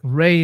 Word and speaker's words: Ra: And I was like, well, that's interesting cuz like Ray is actually the proper pronunciation for the sun god of ancient Egypt.